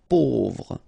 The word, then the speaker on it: pauvre: Pauvre. A, U together will produce this O sound. Pauvre.